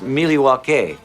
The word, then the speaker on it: Milwaukee: Isn't Milwaukee an Indian name? Yes, Pete, it is. Actually, it's pronounced Milwaukee, which is Algonquin for the good land.